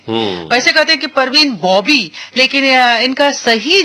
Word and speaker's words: बाबी: तो हमारे बहुत सारे लोग मालूम है परवीन बाबी के बारे में वह पेसिफिक परवीन बॉबी लेकिन इनका सही जो उच्चारण होगा वहां भी होगा बिल्कुल ठीक कहा